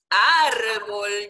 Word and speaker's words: árbol: ¿Ven que la fuerza la tiene en la primera sílaba? Árbol. Tú no dices árbol, ¿Verdad que no?